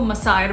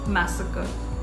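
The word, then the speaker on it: massacre: मैं पर्सनली इसको मसायर बोलती थी. I don't know for what reason. शायद मेरे टीचर्स इसको मसायर बोलते थे but this is not called मसायर, it's called मैसेकर. मैसेकर.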